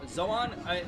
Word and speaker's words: Zoan: Yeah, I think Zoan. In Japanese, you would pronounce it Zoan, but we'd probably just call it Zone.